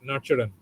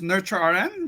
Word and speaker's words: NurtureRN: of nure arn right nuran uh what's the correct pronunciation John no the correct pronunciation is nurture Arn you know thanks for